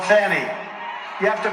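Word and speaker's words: Fani: a n i fny you have to pronounce it fonny it's called Fanny you have to pronounce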